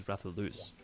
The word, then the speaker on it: Rathalos: I believe that the correct pronunciation for Rathalos is Rathalus, which is quite interesting.